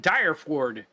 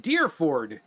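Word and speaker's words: Dyrford: well I don't know how you would pronounce d-y-r f o r d I would pronounce it dire Ford but I think they pronounce it deerford a couple of the people that I've talked to but maybe that's just the accent okay The Farmhouse is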